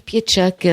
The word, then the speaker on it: Pietrzak: et ça se prononce piedchac c'est polonais c'est d'origine polonaise par mes grands-parents paternels